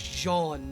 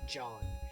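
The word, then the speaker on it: J'onn: No And his name is Jean, not Jean. Not John. It's J apostrophe O N.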